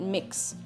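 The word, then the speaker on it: Mx: Mix.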